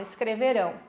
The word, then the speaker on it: escreverão: Imagine que eu vou gritar a palavra para vocês ouvirem lá do outro lado do rio. Lembram da dica? Como é que eu vou gritar? Escreverão!